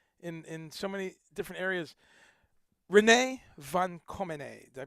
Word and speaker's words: René van Commenée: René van Commenée. Did I pronounce it right?